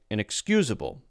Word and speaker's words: inexcusable: Right on the line with the I sound, this is pretty clearly the schwa sound.